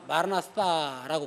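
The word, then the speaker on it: Maranatha: 정확하게 발음한다면 마라나타, 번데기 발음이에요. 마라나타라고 번역하는 게 더 정확한 발음이에요. 번데기 아거든요. 알파거든요. 제일 마지막이.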